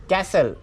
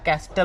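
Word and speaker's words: castle: नंतर 12 नंबर आहे कॅसल खूप सारे जवळपास 98% लोक याला कॅस्टल म्हणून याचा उच्चार केला जातो कॅस्टल म्हणजे किल्ला असा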